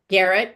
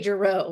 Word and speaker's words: Garrett: Garrett, to Dr. Garrett. I want to say Giroux. I don't know why, but Everyone wants to make it fancier, right?